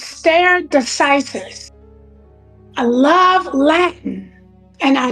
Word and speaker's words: stare decisis: It's pronounced stare decisis.